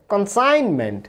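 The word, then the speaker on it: consignment: এরপরে কনসাইনমেন্ট, দেখুন জি এর উচ্চারণ হচ্ছে না।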